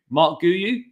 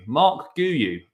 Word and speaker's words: Marc Guiu: Oh, I saying it wrong. Guiu. Marc Guiu. Marc Guiu is the pronunciation, apparently.